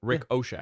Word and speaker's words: Ricochet: You said his name wrong. What do you mean? You said Ricochet. Rick O'Shea.